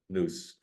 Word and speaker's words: Nous: Is it Nous or Nous? In Greek, it would be Nous. Yeah. Nous. Since Hermes is a Greek character, it must be that.